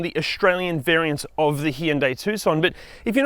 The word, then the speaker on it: Hyundai: and we checked with the internet and the pronunciation is hyundai not hyundai also can you hit the like subscribe and